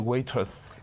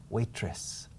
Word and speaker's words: waiters: Are the waiters... No, waiters. Waiters. Claro, la forma en que dices el plural me suena a camarera. Waitress. Do you understand? Yeah.